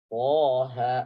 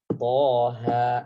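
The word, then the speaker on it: طه: Toha. Maka lihat cara bacanya. Kotak yang paling atau kolom yang paling akhir. Toha. Ini baca 2 harokat.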